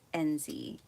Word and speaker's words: Enzi: You know, my son, his name is Enzi, E-N-Z-I, which is a lot like Enzo, but people just, it's